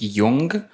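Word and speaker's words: Jung: I think his last name is pronounced Yong.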